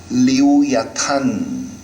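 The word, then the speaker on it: לִוְיָתָן: 리우야탄이라고 하는 히브리어 원어을 우리나란 말로 그대로 옮겨쓴음 발음입니다. 리워야단이 말은요. 그러니까 히브리어 발음은 리우야탄이 말입니다.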